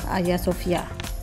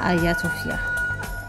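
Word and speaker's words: Hagia Sophia: Destinasi seterusnya adalah Ayah Sofia. Walaupun ejaan dia H A G I A tapi sebutan dia adalah Ayah Sofia.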